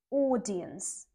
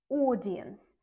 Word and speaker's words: audience: it's O long o audience audience and the stress is on the first syllable audience number 10 this is